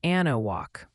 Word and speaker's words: Anahuac: That's pronounced Anahuac.